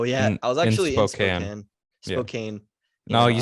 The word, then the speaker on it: Spokane: Oh yeah, I was actually in Spokane.